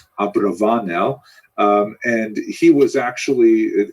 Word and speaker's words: Abravanel: abarbanel the father of Don Isaac abarbanel also pronounced probably more correctly Abravanel um and he was